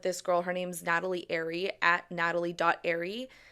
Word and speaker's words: Arie: Her name's Natalie Airy, at natalie.airy. And Airy is spelled ARIE.